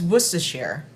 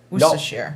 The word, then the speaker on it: Worcestershire: And then 2 tablespoons of Worcestershire sauce.